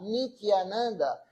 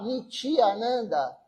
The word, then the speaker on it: Nityananda: Se você não produzir a palavra, não pronunciar Nityananda, se você falar Nityananda, Niti quer dizer baixo. Então, se você pronunciar Nityananda, é baixa bem-aventurança, baixo êxtase. Agora, Nityananda é êxtase eterno.